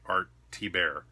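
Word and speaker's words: Thibert: great artsy bear cover that is how you say it by the way art T bear in case you're wondering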